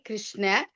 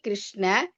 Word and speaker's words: கிருஷ்ண: ஹரே கிருஷ்ணா ஹரே கிருஷ்ண கிருஷ்ண கிருஷ்ண ஹரே ஹரே ஹரே ராம ஹரே ராம ராம ராம ஹரே ஹரே அப்படித்தான் உச்சரிக்கணும். கிருஷ்ணா அப்படின்னா பெண்பாள்ல போயிடும். அதனால ஹரே அப்படிங்கறதுதான் பெண்பாள். கிருஷ்ணா அப்படிங்கிறது ஆண்பாள்.